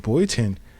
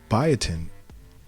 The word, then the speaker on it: biotin: this is in in bootin biotin I'm said it wrong bio biotin is in um tons